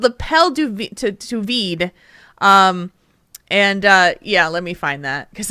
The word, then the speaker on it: L'appel du vide: For podcast listeners, it's spelled L'Appel L'appel DUVIDE. It's French. L'appel du vide. L'appel du vide. Not sous vide.